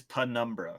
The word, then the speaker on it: Penumbra: sure i'm pretty i've i've always heard it pronounced penumbra really interesting it is penumbra yes p number this